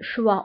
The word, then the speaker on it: choix: Le choix, الاختيار, le choix. وبالنسبة le choix كنكتبوها بX في آخر الكلمة ولكنها لا تنطق.